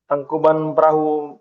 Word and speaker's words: Tangkuban Perahu: How do you pronounce it, Patrick? Well, it's Tangkuban Perahu Mountain. Tangkuban Pero Mountain.